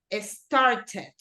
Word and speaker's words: started: Que yo realmente pronuncio esta ED, wanted, started, pero en casos como este de acá, yo no digo arrived, el sonido es mucho más sutil.